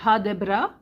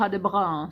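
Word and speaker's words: ha det bra: longue la formulation courte la formulation complète c'est ha Debra donc c'est ha plus loin des plus loin bras qui si vous roulez le vous pouvez dire ha de bras c'est pas le je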